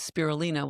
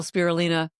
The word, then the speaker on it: spirulina: So I call spirulina spiritualina. Yeah, That's my algae story. she gave me that note, and that's how I remember how to pronounce it correctly.